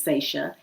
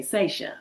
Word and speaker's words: Sasha: to my name, because when you see my name, it looks like Sasha, right? I know that's the typical pronunciation of it. That's why all my life, I have been correcting people. It's Sasha, long A, Sasha.